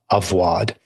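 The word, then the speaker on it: עבודה: The word is avodah, sometimes pronounced avwad.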